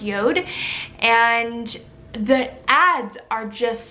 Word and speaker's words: JORD: Facebook and it is the company called company Yoda it's Jo are deep it's pronounced Yoda and the ads are just stunning like they